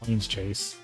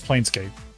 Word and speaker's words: Planescape: Can never remember how to say it because I always want to say Planes Chase. No, it's Planescape.